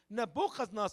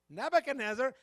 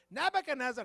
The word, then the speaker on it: Nebuchadnezzar: there was still Remnant we need nabas Nar how you say it in English brother Paul Nebuchadnezzar Nebuchadnezzar have to go to that